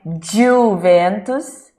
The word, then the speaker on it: Juventus: Então, sempre que aparecer um J, vai ter um som de I. Então, é como o time Juventus, então não é Juventus, não é Juventus, é Juventus.